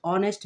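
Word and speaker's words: honest: mister Alam is dash অনেস্ট ম্যান এটার উচ্চারণ হচ্ছে অনেস্ট অনেস্ট না অনেস্ট এইচ এর উচ্চারণ সাইলেন্ট থাকবে এজন্য এখানে কি হবে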